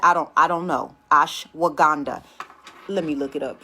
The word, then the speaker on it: ashwagandha: ashwagandha is also good stress anxiety blood sugar cancer